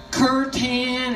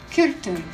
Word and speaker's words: kirtan: what is called kirtan some people call it curtain or kirtan but it's a Sanskrit word and it's actually pronounced kirkton k-i-r-t-a-n and what it means is to come